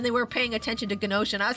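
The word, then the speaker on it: Gnosia: But uh yeah, I just was on a rant about Gosha and how much I love Gosha. You guys should check it out. It's spelled uh it's spelled G N O S I A. Gosha.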